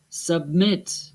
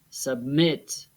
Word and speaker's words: submit: Begin, forget, submit. Listen to where the stress is again. Escuchemos dónde va el acento. Begin, forget, submit. The last syllables are stressed.